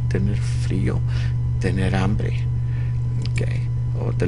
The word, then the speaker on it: frío: Tener frío, Notice the accent on the I. Tener frío, tener hambre.